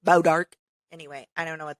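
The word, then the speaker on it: Bois D'Arc: weird day pares Missouri it's probably like bow dark which is spelled like b-o-i-s-d-a-r-c but it's it looks like boys dark but it's bow dark anyway I don't know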